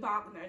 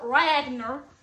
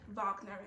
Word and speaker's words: Wagner: the famous aqua composer richard wagner not richard ragner richard walkner um i i have always been familiar with his first name being pronounced rich i don't know if it's ricard but you know correct me if i'm wrong but richard wagner you got to get that last name right it's a specific section